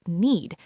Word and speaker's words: knead: Knead the dough for 10 minutes until smooth. Very common instruction. And "knead" is pronounced "need". Same sound, completely different meaning.